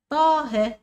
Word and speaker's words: طه: عندنا كمان طه، طه فيها حرف ايه؟ الالف، لكن محمد كل الحروف بتكتب وكل الحروف بتكتب.